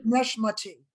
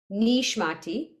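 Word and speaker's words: נשמתי: Look at the vowel under nun. Neshmati. Nishmati. Nishmati.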